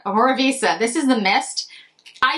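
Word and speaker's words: Omorovicza: to pronounce this correctly omora Visa reminds me of pizza omora Visa this is the Mist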